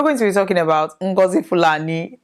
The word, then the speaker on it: Ngozi Fulani: to be talking about ngozi Fulani no it's not ngozi Palani no that's not the pronunciation it is now if